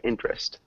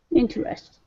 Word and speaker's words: interest: Heidi interest yeah so we don't really pronounce the second e so pretend it's not there interest interest close two syllables int